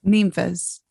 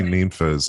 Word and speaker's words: Ninfa's: Do you say Ninfa's or Ninfa's? Ninfa's. Oh, thank you. I say Ninfa's. Yes, that's how you say it. That's people always say. It's supposed to be nymphas, and if you say nymphas, then you're dead to us.